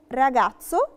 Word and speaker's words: ragazzo: بس qualche volta si pronuncia ts come ragazzo palazzo. يعني ايه؟ أوقات بننطقها تس زي كلمة راجاتسو اللي هو شاب، أو بالاتسو اللي هو قصر.